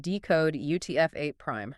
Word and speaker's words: decodeUtf8': And that second one has a single quote at the end of it, which in this context is pronounced decode UTF8 prime.